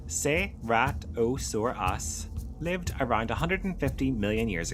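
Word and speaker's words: Ceratosaurus: Seratosaurus pronounced seatosaurus lived around 150 million years ago during the late Jurassic period in what is now North America and parts of Europe.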